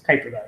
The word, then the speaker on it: Kuiper belt: Kuiper belt.